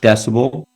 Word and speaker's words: dcbel: That's sort of part of, more on the down the rabbit hole, but it's pronounced decibel, and we make a home energy station.